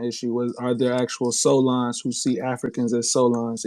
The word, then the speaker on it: Soulaan: Solon means it's spelled Soulaan.